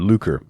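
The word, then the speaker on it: lucre: turned aside after luker it looks like lecree but i had to go look up with the how to pronounce that word luker which has to do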